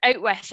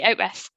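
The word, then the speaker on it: outwith: So instead of saying outside of, you would say out with or out with if you're pronouncing it right. So out with Scotland, nobody uses the word.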